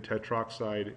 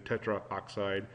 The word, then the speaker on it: tetroxide: to make it pronounceable so dinitrogen tetroxide instead of dinitrogen Tetra oxide is just awkward to say that and the formula for